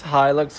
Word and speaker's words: Hilux: So I pronounced it incorrectly. It's Hilux.